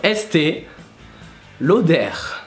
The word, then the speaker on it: Estée Lauder: So yeah, you pronounce the R in the end. So Estée Lauder.